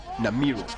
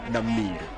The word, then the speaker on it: Namiro: I wouldn't want to call you Namiro. When they say Namir. I would prefer to pronounce you as it should be, Namiro.